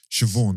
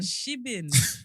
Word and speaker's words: Siobhan: Siobhan. Siobhan. I was trying to remember like how is it pronounced again? You know. Siobhan. Shibin.